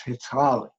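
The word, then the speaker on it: hataałii: they would use is hetali and any navajo is listening in please forgive my pronunciation i'm doing my best but it's hitali and that word is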